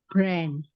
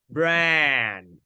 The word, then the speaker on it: brand: Brand. Brand. Open your mouth wide.